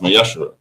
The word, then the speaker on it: Ma'aser: Means 10th in Hebrew and is pronounced Ma'aser.